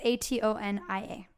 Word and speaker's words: atonia: is called REM atonia when I'm a Tony I British that's how it's pronounced I really should start looking these up I'm sorry Tony yeah it's aton ia atonia sure so it's been